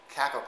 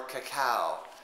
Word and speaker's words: cacao: at uh Super Supplements organic caco powder or cacao depending on who you are and how you think it should be pronounced so this is just